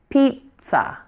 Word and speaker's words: pizza: leave off the N so what you want to say is pizza pizza first syllables louder and longer the second syllable is shorter and quieter and that's it the